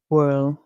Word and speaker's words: world: word world world world in the British English pronunciation you would hear world in the American pronunciation you'll hear well the Americans they would exempt or they would omit or delete the D or t sound at the end of words so World American World